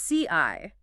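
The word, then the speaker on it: 四: why four it's pronounced CI in Mandarin and that sounds almost exactly like the word for death oh okay yeah so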